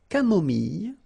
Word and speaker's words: camomille: So remember when we get this I and then double L, it goes like y. Mille, camomille, une camomille, un thé